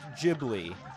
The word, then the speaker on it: Ghibli: And it it is pronounced Jibli with like a soft G.